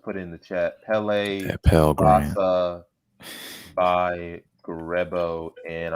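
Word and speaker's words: Kpelle: It is nice pronounced Pele. K is silent.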